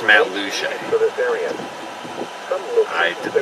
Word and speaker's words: Matlacha: I've been told it's pronounced Matt Luce.